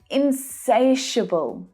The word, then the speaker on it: insatiable: Insatiable. Say it with me. Insatiable. I love this adjective. The second syllable is the stressed one. Insatiable. Hear how low in pitch those last two syllables are?